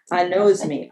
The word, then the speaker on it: anosmia: So my favorite one to want for everyone to understand, it actually has the word nose in it phonetically, is anosmia. So if you could start